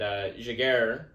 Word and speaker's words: Giguere: And Giguere, I think is the correct pronunciation, did accept the award like a man, and Connor McDavid did not.